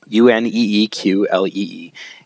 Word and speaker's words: Uneeqlee: Now, it's spelled a little weird. In fact, it's spelled uniquely on its very own, Uneeqlee.